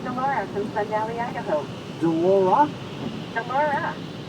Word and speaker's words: Delora: Delora? Delora. How do you spell that?